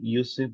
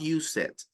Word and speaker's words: used: So if the word ends with T or D, you pronounce the E. Otherwise, it's only the D. Used, right? Not use it.